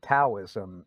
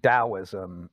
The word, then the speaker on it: Daoism: So Tao, or Taoism, is a mispronunciation of the Chinese word, and Daoism is how people say it.